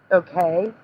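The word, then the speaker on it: Okeh: Okay. Okay is spelled O-K-E-H.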